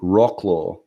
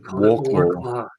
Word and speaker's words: Wrocław: Apparently, on their European tours, they could never pronounce the name of the Polish city Wrocław, and they always called it Warclaw.